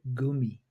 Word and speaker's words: Gummi: But what we call in this country gummy, I've some German people I know, they pronounce it with a longer U. They're gummi, and I love the way people say that.